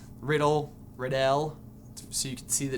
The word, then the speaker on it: Riddell: That's Thomas Riddell. Pronounced Riddell.